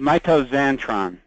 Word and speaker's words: mitoxantrone: Yeah, it's called mitoxantrone. Mitoxantrone. Isn't it mitoxan? MITOXANTRONE. Yeah, but it's called. They spell it, the X sounds like a Z.